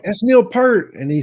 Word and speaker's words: Peart: It's Neil Peart. Yeah, it's not. Yeah. They used to pronounce it Peart all the time, but it's Peart.